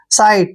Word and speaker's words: sight: देखिए SI का उच्चारण हम साई करेंगे, जैसे हमने पिछले वर्ड में टाई किया, इसको साई पढ़ेंगे। और टी से पहले जब भी GH आ रहा है तो GH को साइलेंट रखते जाइए आप, और टी को टे लिखिए।